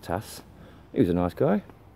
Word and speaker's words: Thijs: Vidges. But it's pronounced Tass.